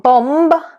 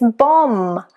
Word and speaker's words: bomb: Then you've got a silent B after M. So it's not plumber, it's plumber. It's not climb, it's climb. It's not bomb, it's bomb.